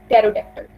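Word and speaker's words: pterodactyl: तो ये एक साइलेंट लेटर है यहाँ पर. इस वर्ड में हम पा साउंड को प्रोनाउंस नहीं करते हैं. इट is called टेरोडैक्टल.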